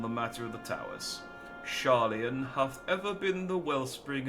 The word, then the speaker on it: Sharlayan: As Thancred so eloquently pointed out, we are in a position to seek information from all manners of places, not least Sharlayan. Yeah, I am pronouncing that right.